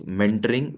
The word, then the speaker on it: mentoring: Pronounce mentoring with the correct stress on the first syllable.